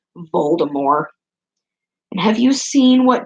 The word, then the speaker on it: Voldemort: name isn't pronounced like the T is silent so technically his name is pronounced bold or more and have you seen